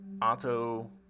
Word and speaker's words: Ato: I assume that it's pronounced Otto because Gateau. Could be totally wrong on that front.